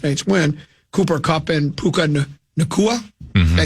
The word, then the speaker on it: Puka Nacua: Cooper Kupp and Puka Nacua.